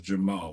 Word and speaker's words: Jermall: I had to get I had to say it right because I almost said Jamal. It is not Jamal. It is Jamal.